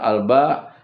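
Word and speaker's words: الباء: Tetapi kalau membacanya secara tunggal ialah alba dengan ditekan sedikit ujungnya sehingga berbunyi ada hamzah.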